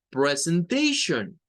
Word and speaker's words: presentation: T-I-O-N suena a Sean. Entonces, esta palabra tiene una pronunciación en donde podemos gesticular una press, que sería esta, una una T y Sean.